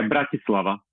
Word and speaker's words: Bratislava: pronouncing Bratislava correctly yeah Bratislava Bratislava but it's the okay BR laava it's like Brad you know like if someone's behaving like a brad okay fair enough now